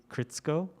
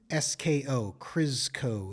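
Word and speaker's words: Krzsko: but it's is and it's k-r-z-s-k-o chris co is my guess from fairy wing bling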